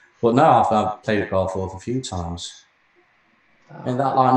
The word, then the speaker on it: Garforth: Say F-O-R-T-H, the word. Say that. Go on. What was that, sorry? Say the word F-O-R-T-H. The word. The word that's spelled F-O-R-T-H. No. Say the word F-O-R-T-H as a word. Go on. Fourth. See? Now say G-A-R. G-A-R. As a word, Dick. Gar. Right, Garforth. There you go.